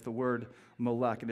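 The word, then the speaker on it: מֶלֶךְ: But it's pronounced melech.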